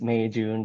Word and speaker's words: Meijun: my overused Icebreaker that the way to pronounce my name is your favorite months May and June so it's May June July um and I